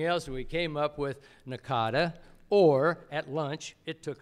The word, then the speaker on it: NACADA: try for something else we came up with Nakata or at lunch it took us a half an hour to decide how to pronounce in a CA da so it was